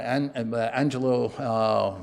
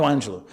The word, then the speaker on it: Maya Angelou: that was the title of a book by Angelo, got her name wrong, the great singer, Maya Angelou.